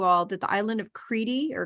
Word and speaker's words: Crete: will tell you all that the island of kriti or crete is really pronounced creepy but they spell it but americans